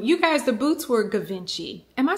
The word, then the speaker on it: Givenchy: How do you pronounce? Okay, you guys, I looked it up and it's Givenchy.